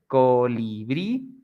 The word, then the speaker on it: colibrí: Like in the examples we have here, colibrí, the strong sound, it's at the end, brí, colibrí, jabón, jabón, borrador, borrador y café, café.